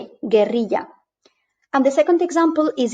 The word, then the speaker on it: guerrilla: But if we apply the alphabet rules in Spanish, we will see that the word is pronounced guerrilla. G-U-E, guerrilla.